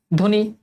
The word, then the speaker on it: ধ্বনি: ধ্বনি, তাহলে ধ ওকার হবে, ধ্বনি।